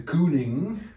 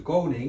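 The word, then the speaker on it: Kooning: with a Dutch name they call him the cooling well actually the Dutch pronunciation is the coding they said about the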